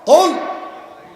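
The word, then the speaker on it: قل: কুল মোটা করে হবে কুল। হে নবী আপনি বলুন আল্লাহ একক একক। হে নবী আপনি বলেন আল্লাহ একক একক। এখন আপনি যদি এটা পড়ার সময় মোটা করে কাফ উচ্চারণ করতে না পারেন, আপনি যদি চিকুন করে বলেন যে কুল, কি কুল? কুল মানে খাও। কুল মানে কি? খাও।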